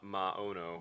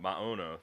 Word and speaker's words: Maono: owner literally said he doesn't care how people pronounce it. Anyway. Mono, is it? Amano I think it's or Moano. Maono. Maono.